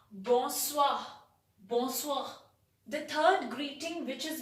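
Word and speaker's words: bonsoir: good evening in french you will say it as boswah it is written b o n s o i r you will spell it as or you will pronounce it as boswa bonswa the third greeting which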